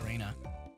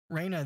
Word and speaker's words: Rena: end bad oh okay you would know how it's pronounced if you heard the Vaas R is pronounced with short e and no I interesting okay huh okay